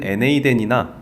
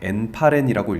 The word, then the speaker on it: n8n: 외국 사람들은 NA10이나 네이튼이라고 읽는 것 같은데요. 저는 구수하게 그냥 N8N이라고 읽겠습니다.